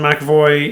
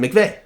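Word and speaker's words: McVay: and how to say how do you say his name uh mac no i just said it um mcveigh mcveigh yeah james mcavoy is uh the actor dude you're thinking okay yeah got confused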